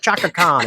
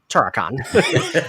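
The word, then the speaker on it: Turok-Han: I love the running gag of Buffy always getting the demon name wrong, and when she's like, the Chaka Khan," and Dawn's like, Turakan.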